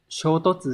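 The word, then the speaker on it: 衝突: Shōtotsu shisō ni natte shimatta. Từ được cái chân đọc là shōtotsu, Hán tự là xung và đột, có nghĩa là xung đột, va chạm.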